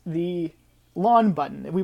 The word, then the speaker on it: ln: my initials it's the laun button if we pronounce it along like as in lawn like you mow the lawn so it's Ln and